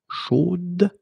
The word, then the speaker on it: chaude: You will have to put this final e, chaude, okay, at the end, and then the pronunciation will change a little bit. Chaude. So here you pronounce the final b, whereas in the masculine form you don't pronounce it.